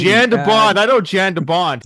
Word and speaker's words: Jan de Bont: Jan de Bond.